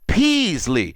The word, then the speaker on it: Peasley: I noticed that you've been pronouncing my last name wrong um but it's okay pronounce it peasley part of me I said Paisley I'm sorry about that